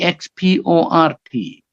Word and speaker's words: export: example you know e ex p o r t it can be noun and verb as a noun the stress falls on the first syllable so export export but if you're sending